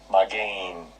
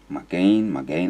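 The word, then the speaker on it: מָגֵן: The pronunciation. Strong's H 4043. Magain. So that's how you pronounce that. Magain, that's how they pronounce it.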